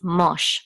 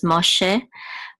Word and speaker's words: Moshe: going to be science so it's mosh mosh um mosh and then this is a vet um wait hold on no this this is not this is not sound this is going to be pronounced I'm sorry um after a whole limit so this is Moshe Moshe and this is